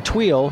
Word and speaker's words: Tweel: has been acting as that's a funny name to pronounce. You know, Tweel? When you look at it in writing, Twele. I've mispronounced that more times than I've... It wants to have 2 E's.